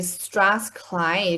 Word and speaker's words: Strathclyde: solve this the riddle so basically stra clai it consists of two words so the strath is actually a Scottish word means valley and